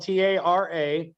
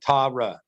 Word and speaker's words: Tara: Like if you look at it shows her name spelled TARA, and then under it in parentheses it says like on how to pronounce it, it says TAW dash like RAH or something. So it's like Tara, like kind of.